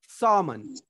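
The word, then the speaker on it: salmon: Okay, SLMON, इसको हम लोग बोलते हैं सामन, क्योंकि यहाँ पे एल को साइलेंट कर लेंगे बिकॉज ऑफ एल से पहले ए आया है।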